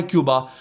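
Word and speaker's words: Cuba: मतलब अगला हदफ हमारा क्यूबा है या कूबा है, कुछ लोग उसको कूबा भी कहते हैं बाय द वे। असल जो लफ्ज़ की प्रोनाउंसिएशन है वहाँ की अपनी ज़ुबान में, वो कूबा है नाजरीन।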